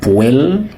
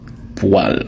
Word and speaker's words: poêle: si tu lisais ce mot ce n'est pas poê si poêle si on dit poê par les créoles Vous pas parler français.